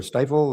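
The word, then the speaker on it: Stifel: Is it stiff or stifle or what do you think of them? long eye. So stifle.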